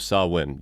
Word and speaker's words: Samhain: Welcome back to the season of Samhain. Yes, that is how you pronounce that.